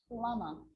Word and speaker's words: plumber: It's always silent when it follows the letter M. Climb, crumb, lamb, thumb, dumb, and plumber. So practice them with me. I'm not pronouncing the B, I'm just pronouncing the M consonant sound.